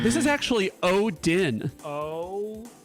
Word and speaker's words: Odin: I'm gonna say Oron because he seems like he smells good. It's the right number of syllables, but it's wrong. This is actually Odin.